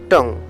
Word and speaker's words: tongue: Rule number 6, কোনো কোনো শব্দে ইউ সাইলেন্ট থাকে, অর্থাৎ ইউ এটা উজ্জ্ব থাকবে, বোঝা যাবে না। যেমন টং, TONGUE, টং, এর কিন্তু শব্দের উচ্চারণটা বোঝা যাচ্ছে না।